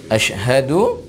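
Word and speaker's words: أشهد: an na muhammadarrasulullah nah Asyhadu juga dengan huruf syin huruf syin Bukan shinbukan ashaduanna tapi asyhadu anna nah ini dia Asyhadu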